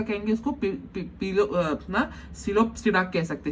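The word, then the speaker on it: Psilopsida: आप इसको पिलोप्सिडा और आपको पिटेरोप्सिडा स्पेलिंग के लिए पढ़ सकते हैं, लेकिन आप जब प्रोनाउंस करेंगे तो सिलोप्सिडा, लाइकोप्सिडा, स्फेनोप्सिडा और टेरोस्पिडा, इसको ऐसे प्रोनाउंस करना है।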